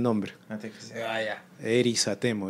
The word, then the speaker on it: Erizatemo: ¿Cómo se escribe Erizatemo? ¿E-R-I? ¿Cómo suena? E-R-I-Z-A-T-E-M-O con S.